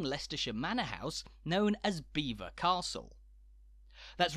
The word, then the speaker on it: Belvoir: Manor House known as Beaver Castle that's right fight the sophisticated French Instinct within you and don't say Belvoir but beaver a bizarre pronunciation that's